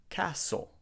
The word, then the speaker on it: castle: is silent and Castle lots of students say castle but the t is also silent in this word we have to say castle castle subtle we don't say